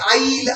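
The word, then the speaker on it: isle: একই রকম ভাবে ওল্ড ফ্রেঞ্চ আইল, IYLE, এস এর উচ্চারণ হবে না, আইল মানে দ্বীপপুঞ্জ, অ্যাকচুয়ালি ওল্ড ইংলিশে আইল্যান্ড কথাটা ছিল, এই এসটা, আইল্যান্ড এসটা এই ISLAND এই ফ্রেঞ্চ থেকে এসছে।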